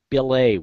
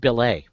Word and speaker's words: billet: It's really a French word, so it's pronounced billet, but nobody knows that.